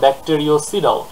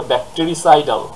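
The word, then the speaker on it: bactericidal: কিন্তু তারপর স্টুডেন্টরা যেটা করে সেটা হচ্ছে তারা বলে ব্যাকটেরিওসিডাল। অর্থাৎ ওই ব্যাকটেরিও স্ট্যাটিক ওখান থেকে ওরা নিয়ে আসে ব্যাকটেরিওসিডাল। এখানে একটা ও যোগ করে দেয়। খেয়াল করেন উচ্চারণটা হবে ব্যাটেরিসাইডাল। এখানে কিন্তু কোন ও নেই।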